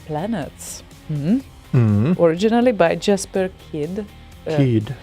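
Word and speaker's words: Kyd: Kid. Danish, I think. Oh, of course it is. Kid. So, Kid. Jesper Kid. Jesper Kid. Not kid. Kid. Kid. But do Danes pronounce the Y the same way as Swedes do? Kind of. Okay. Then No, they don't say kid, at least.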